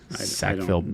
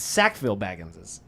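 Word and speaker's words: Sackville-Baggins: Sackfield. I don't know what he's talking about. I love that you all thought I was saying sackfield. It's sackville baggines.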